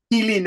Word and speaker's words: Mai Linh: Actually, people usually like mispronounce my name is Mai Linh, but my name is Mai Linh. Mi-Lin, okay.